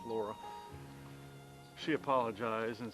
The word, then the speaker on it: Lara: It's L A R A but it's pronounced Laura.